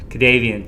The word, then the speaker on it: KaDavien: Did I get that right? Pronunciation? You got it right, and that's why I was smiling so big when we started.